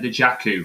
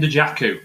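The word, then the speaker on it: Dajaku: Leon Dejaku, loan transfer, second striker. So that must sounds be like Lukaku, so it makes sense.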